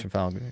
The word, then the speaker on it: Trafalgar: I think that's how you pronounce it, Trafalgar Theater. Yeah, Trafalgar.